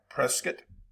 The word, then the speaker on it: Prescott: And I said it right, Prescott.